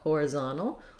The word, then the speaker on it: horizontal: an unstressed reduced i you just want to be fast and light on these first two syllables and make sure that you have your more length on the zone it can be challenging